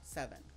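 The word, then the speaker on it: Sevn: letter s e VN which is pronounced seven SBN 7 this is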